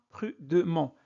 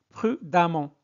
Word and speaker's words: prudemment: et on ajoute amant ça se prononce amment donc prudemment ne prononcez pas prudement prudemment patient amment patiemment 3è